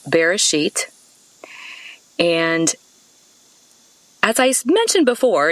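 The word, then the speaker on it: בראשית: you about that word beginning in hebrew it's pronounced bereshit and as i mentioned before in these talks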